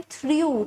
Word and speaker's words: threw: अब देखिए next is द pronunciation is same थ्रू, THREW, बट इट इज द past tense of verb थ्रो, मतलब फेंकना.